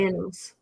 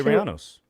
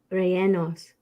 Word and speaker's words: rellenos: How do you pronounce it? The chat? Rellenos. Chili Rianos. Rellenos.